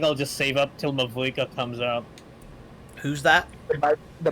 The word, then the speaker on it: Mavuika: It's spelled as it is. Mavuika. Pronounce it as you spell it. Mavuika. Oh, I went Mavoieka, so Mavu.